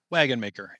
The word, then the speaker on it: Wagenmaker: your last name wagon maker it is a Dutch name of or Dutch origin although my family is